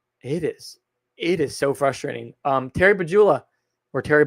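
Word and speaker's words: Pegula: Terry Bagula or Terry Bagula or however you want to pronounce his name. I keep saying it with a J, but it's really a G, and I know that.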